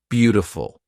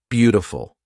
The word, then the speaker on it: beautiful: pretty not pretty pretty beautiful nope beautiful quick D now it's it's a